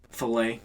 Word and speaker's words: filet: The filet is how you would technically pronounce it.